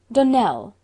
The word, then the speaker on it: Donnell: Donnell, accent on the last syllable, and St.